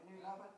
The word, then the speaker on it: Newton Abbot: As well as being the pride of Newton Abbot, did I pronounce that right? Newton Abbot, yep.